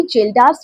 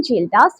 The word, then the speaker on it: Kjeldahl: ध्यान से सुनो बच्चे इसमें एक तो के आपका साइलेंट है। ये जो के दिख रहा है ना ये वाला ये आपका साइलेंट होता है। ठीक है? क्या बोलते हैं? जेल्ड्स मेथड।